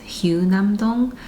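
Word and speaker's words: 휴남동: I didn't realize it until later, but it's pronounced hyunam-dong. I kept calling it hyunam-dong, but the hyu comes from hyushik, which means to rest in Korean.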